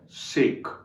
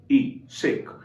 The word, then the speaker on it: sake: में एक वर्ड है सेक, SAKE, शेक। ये शेक नहीं है, शेक तो बाजार में मिलता है, आपने कई बार पिया होगा।